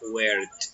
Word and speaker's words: worked: El pasado sería worked, trabajado. Entonces, esto tiene un sonido de una T, una pronunciación de una T.